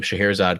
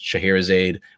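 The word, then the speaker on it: Scheherazade: name and that um shahir azad comes from old a middle persian name called our chair which was then kind of pronounced shahirizade which was also the german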